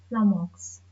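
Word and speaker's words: flummox: इसका प्रोनाउंसिएशन है प्लमक्स। इसको प्रोनाउंस कैसे प्रोनाउंस करेंगे? प्लमक्स।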